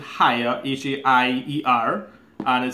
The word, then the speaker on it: Haier: so set here or let me pronounce it higher each a ier and